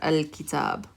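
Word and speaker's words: الكتاب: So we pronounce it al, and then the kaf, we pronounce it the kasra, al-kitab. So when you have a moon letter after alif lam, you're going to hear al.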